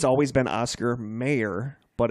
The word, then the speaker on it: Oscar Mayer: the song okay here's always it's always been Oscar Mayer but it's it's pronounced Oscar Mayer right cuz I know the song like the